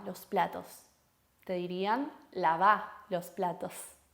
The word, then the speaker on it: lavá: No te dirían lava los platos, te dirían lava los platos. No te dirían ordena tu cuarto, te dirían ordena tu cuarto. Fíjense esa acentuación en la última sílaba.